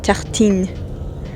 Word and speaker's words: Tartine: It's called Tartine, but since I'm learning French, I'll tell you the real pronunciation, which is tartine.